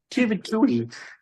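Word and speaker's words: Twohy: people might not know out there that David Tuhi uh Yeah, Tu Tui, that's how you pronounce it. Tui, he is so prolific because I thought he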